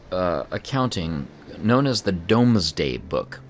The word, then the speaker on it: Domesday: accounting known as the domesday book sounds like Doomsday but it's spelled D o m s d a y Dom day I don't know if